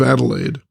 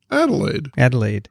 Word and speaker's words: Adelaide: and the pronunciation of Adelaide. Dickson had it right when he said he pronounced it Adelaide. But said that us Adelaideans would pronounce it Adelaide.